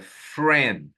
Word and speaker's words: friend: Olha, que coisa estranha, eu tenho essa palavra aqui, mas eu só falo uma vogal.